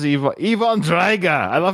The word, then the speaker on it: Drago: how he does Drago it's drga like with in Russian with like an O at the end they always say it like an A and I don't know